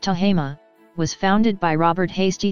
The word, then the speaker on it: Tehama: Tahoma, pronounced Tahama, was founded by Robert Hasty Thomes, who arrived in the area that is now Tahoma County in the company of Albert G.